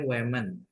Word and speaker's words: women: Kalau A itu bacanya woman ya, kalau E bacanya women.